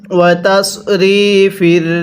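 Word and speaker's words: وَتَصْرِيفِ: এরপরে ওয়াতাসরিফির, হ্যাঁ এটাকে সৎ উচ্চারণ করতে হবে, যদি আমরা সৎকে সিন উচ্চারণ করি তাহলে কিন্তু পড়াটা সহি শুদ্ধ হবে না। তাহলে কিভাবে পড়তে হবে? ওয়াতাসরিফির রিয়াহি, আরেকবার আমার সাথে পড়বেন।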